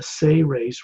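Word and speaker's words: Seres: His name is Ambassador Torelli, and he's of the Say-Rays race. It's spelled S-E-R-E-S in English, but it's pronounced as if it was spelled S-A-Y-R-A-Y-S, Say-Rays.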